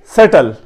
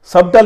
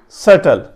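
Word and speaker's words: subtle: میں دہرائے دیتا ہوں, کہ سیٹل, سبٹل نہیں پڑھنا, سیٹل.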